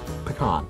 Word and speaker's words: pecan: Today's item, kids, is M&M's Milk Chocolate Pecan Pie. I'm not excited. I am. Here, I'll do it. Pecan Pie M&M's. Pecan Pie M&M's. Pecan Pie M&M's, and that's how you say it. Pecan.